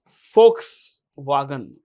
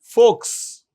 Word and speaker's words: Volkswagen: Volkswagen. Volks. It's pronounced with an F. It's not Volks. What is it?